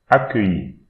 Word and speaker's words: accueilli: The double C here you should pronounce it like K. So, and again we have E, I, double L, so Y, I. So, accueilli.